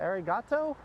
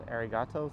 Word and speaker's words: arigato: Gotta roll your R in arigato, says Sir Bob Blablas.